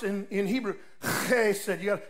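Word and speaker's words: hesed: spitting your idea it's it's h-e-s-e-d but it's pronounced in in Hebrew okay he said like hutzpah they said they said say that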